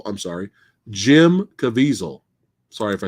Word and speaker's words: Caviezel: pretty good villain in this movie um jim cavill i'm sorry jim caviezel sorry if i said his name wrong but yeah watch how he even speaks